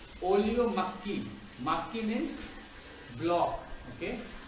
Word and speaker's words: makgi: Makki means block. Okay? We write it as M-A-K-G-I, but the pronunciation is makki.